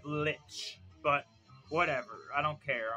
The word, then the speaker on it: lich: we're Demi Lynch Lich he didn't say lick he said Lich but whatever I don't